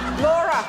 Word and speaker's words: Laura: Laura rhymes with Bora and Snorer.